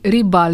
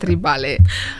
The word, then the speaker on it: Ribale: So for all the one who follow Ribal, you can say Ribal is the correct pronunciation, not Ribale.